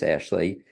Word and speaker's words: Ashleigh: It's again, spell it Ashleigh, ASHleigh. It's like Raleigh, but just ASH in the beginning.